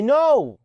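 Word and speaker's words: know: زي نو. ونو معناها يعرف. وخلي بالك اوعى تغلط وتقول ناو. ناو ان او دبليو بس. ناو اللي هي معناها الان، انما كي ان هي ان نو.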